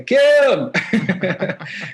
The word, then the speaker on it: KIIM: So people don't say Kim, they say Kim, come here, Kim. So they say my name with like two eyes because it's just the way it's kind of pronounced for me.